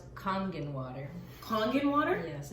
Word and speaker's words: Kangen: about something we say it differently call it Canyon water you call it it's actually pronounced kangen water calling in water yes okay Japanese okay